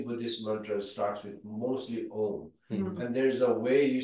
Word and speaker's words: Om: syllable own yeah yeah the OM we we always say om it's a very religious word and then they say it has it's it's made of a u m and it has a